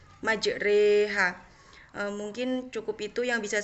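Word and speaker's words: مجريها: surat hud ayat 41 yang berbunyi majreha itu cara membacanya itu yang awalnya ro itu tanda baca fathah menjadi Rock di tanda baca miring atau dibaca menjadi Rich majreha Mungkin cukup itu yang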